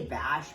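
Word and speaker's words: ba&sh: I say Bash, but it's BA and SH, so it spells out Bash without the and sign.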